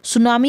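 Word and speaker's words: tsunami: है हर्बल और नामी टी साइलेंट हो जाएगा श हम इसको बोलेंगे तो इसका मीनिंग होता है वेव्स सुनामी और पॉपुलर एक तरह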